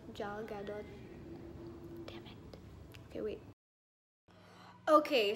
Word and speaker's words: Gal Gadot: Is it Gal Gadot? Jal Gadot? Damn it. Okay, wait. Okay, so napanood ko yung video niya just now, how she pronounced her name was Gal Gadot.